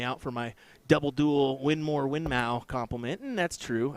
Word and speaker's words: Winmau: somebody's calling me out for my double duel winmore winmau compliment and that's true I did I